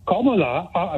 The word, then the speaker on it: Kamala: point is this seriously comma which is how you pronounce it in Hindi it means the orange